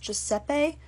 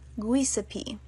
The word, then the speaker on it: Giuseppe: bobblehead the previously mentioned 10th grade history teacher pronounced giuseppe guisapi she also argued with my friend who is